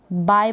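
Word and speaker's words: buy: आपको यहाँ पर यू मिल रहा है, यू के बाद इसको प्रोनाउंस तो नहीं कर रहे हैं ना, बाय प्रोनाउंस करेंगे। अब बुआई इस तरीके से ना पढ़ें, तो बाय प्रोनाउंसिएशन है।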